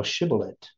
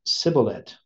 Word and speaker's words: Shibboleth: And if he said, "Nay," then say they unto him, "Say now Shibboleth." And he said, "Sibboleth," for he could not frame to pronounce it right.